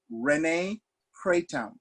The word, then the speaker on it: Renai Fields-Kraytem: We are Edward and Debbie Smith, and we have our guest today, none other than Renai Fields-Kraytem. Did I pronounce that correctly?